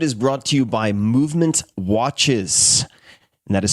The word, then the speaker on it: MVMT: This episode is brought to you by Movement Watches and that is spelled MVMT.